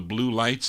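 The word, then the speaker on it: Bleu Lights: Here are the Blue Lights, B-L-E-U it's spelled, the Blue Lights on Bass Sound.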